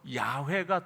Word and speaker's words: 야훼: 그래서 순복음에서는 여호와를 뭐라고 불러요? 우리 조용기 목사님 야훼께서 이러시대 그러면서 그러잖아요. 거긴 야훼라고 불러요. 그게 이제 성경학자들에 의해서 야훼가 더 이제 맞을 거다 생각해갖고 야훼라고 부르거든요.